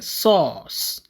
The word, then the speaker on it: source: ok bu dee français mooy source. ok waaye ñu koy lire sauce donc r bi kon kenn du ko liraale the r is silent.